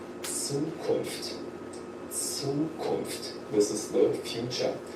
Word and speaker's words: Zukunft: And the character Z is also pronounced in a very special way. It sounds like TS, Zukunft, Zukunft.